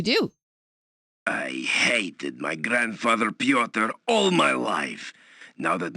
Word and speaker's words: Pyotr: backgrounds, had no idea how to pronounce Pyotr, and I thought his name was Pyrotar, which is an amazing name, but it's not right.